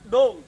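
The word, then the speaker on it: ដូង: Dong. Do. Dong, yeah.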